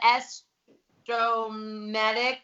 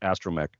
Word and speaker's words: astromech: it is but i don't know how to pronounce it it's the estromatic george oh i was gonna yep i was